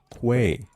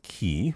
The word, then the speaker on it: quay: So I just come to say it's pronounced qu. Uh say it with me now with a Q. Quay. Yes. One more time. Quay. Not key.